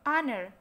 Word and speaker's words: honor: Sama halnya seperti ini, H bacanya bukan honor gitu ya, honor.